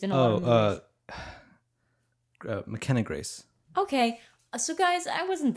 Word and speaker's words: McKenna Grace: McKenna Grace. Okay. So, guys, I wasn't that far off. I was, like, a syllable off. McKenna Grace. Yeah, it's, like, as close as Taika Waititi. No, Mackenzie Grace and McKenna Grace are,